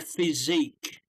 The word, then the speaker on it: physique: So they, yeah, they it's good for their physique. Is how we pronounce it.